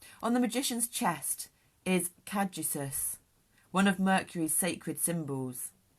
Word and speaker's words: caduceus: On the magician's chest is caduceus, one of Mercury's sacred symbols. It's spelled CADUCEUS, in case we're pronouncing it wrong.